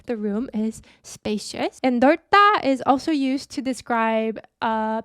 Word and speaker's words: 넓다: This is pronounced like 넓다.